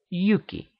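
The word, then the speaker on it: Hjúki: names indicate as much huki in Norse would be pronounced Yuki which would readily become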